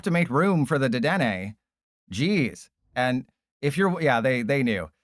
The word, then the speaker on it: Dedenne: Telerian Community College literally calls it Dedena. It is called Dedena according to Telerian Community College.